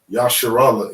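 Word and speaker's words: ישראל: Yasharallah in the Hebrew.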